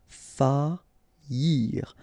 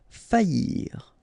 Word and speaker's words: faillir: Okay, so you don't pronounce this I here, okay? Faillir. Faillir.